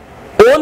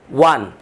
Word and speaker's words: won: তাহলে আমরা ডব্লিউ ও এন এটার উচ্চারণ ওন না করে এটার উচ্চারণ আমরা কি করব? আজ থেকে ওয়ান।